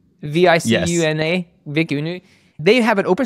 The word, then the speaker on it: Vicuna: Kieran mispronouncing things. Let's go. Okay, you know this model. So VICUNA, V-I-C-U-N-A, VICUNA.